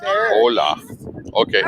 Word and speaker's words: hola: Hola. Okay. All right, come on. So you don't pronounce the H.